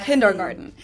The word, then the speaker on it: Kindergarten: Let's start with one of the most known ones, and that is kindergarten. In German, we pronounce it Kindergarten, and it literally means children's garden.